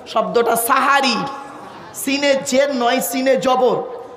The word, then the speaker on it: সেহরি: তাকে আপনারা কি বলেন সেহরি জোরে বলুন বাপেরা করো জোরে বলি শব্দটা সেহেরি নয় শব্দটা সাহারি সিনে জের নয় সিনে